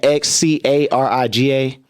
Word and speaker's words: xCariga: Oh, yeah, you can find me at XCARIGA. The X is silent for Kuriga.